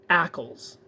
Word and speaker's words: Ackles: That's not how you spell Ockles. Rhymes with apples.